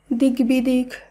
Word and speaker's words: দিগ্বিদিক: শব্দগুলিকে যখন আমরা শুদ্ধভাবে উচ্চারণ করব তখন বফলার উচ্চারণের কোনো পরিবর্তন হবে না। তাই দিগ্বিদিক, দিগ্বিজয়, দিগ্বলয়, ঋগ্বেদ এই প্রত্যেকটি শব্দের উচ্চারণ একই হবে।